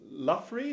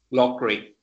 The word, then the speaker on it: Loughrey: Let's move to our next speaker, Reverend Luffy. Have I pronounced that correctly? Loughrey. Loughrey, I beg your pardon.